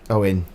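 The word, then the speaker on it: Eoin: Is it E-O-I-N? Yes. okay. Owen. It's Owen or or, Dave. Okay, no worries.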